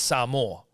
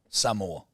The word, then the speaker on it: Samoa: is Samoa is fine I think it's Samoa Samoa like give me some more rugby league on Sunday